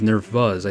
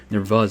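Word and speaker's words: Nerþuz: next mythic, which is Nervuz. I think that's how you say her name. It's not a P or a B, it's V. Nervuz, I think. That's how Faye said it, I believe.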